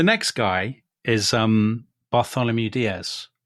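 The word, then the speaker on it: Dias: So the next guy is um Bartholomew Diaz. Bartholome I think would be how the Dutch would pronounce it. By dash that is how they say it Tom.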